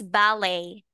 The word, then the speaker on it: ballet: ballet ballet dancer dancer this one is ballet ballet yeah silent T ballet okay now please